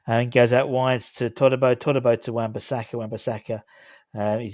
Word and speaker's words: Todibo: It's Todibo, not Todibo. It's Todibo, to be honest. You're pronouncing it wrong.